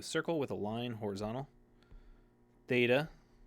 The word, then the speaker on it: Theta: with a line horizontal Theta Theta that th sound thth th Yoda is like our